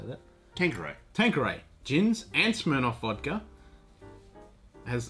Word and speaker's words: Tanqueray: Tanqueray.